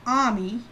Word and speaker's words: AMI: is what started Nami it used to be called ami ami okay I spell that am i okay and this turned